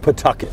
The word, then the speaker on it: Pawtucket: It's pronounced, from what I understand, Pawtucket. Pawtucket. Like the W is silent. If you say Pawtucket, they know you're. They know you're not from here.